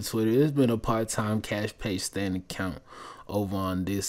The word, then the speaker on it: Kaash Paige: bio of the twitter there's been a part-time cash page standing account over on this side but she